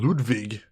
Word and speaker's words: Ludwig: If Grace could start pronouncing the W in Ludwig, as it sounds in German and everyone else did, I would appreciate it very much.